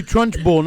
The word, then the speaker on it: Trunchbull: It's That's- actually Trunchbull, not Trenchbull.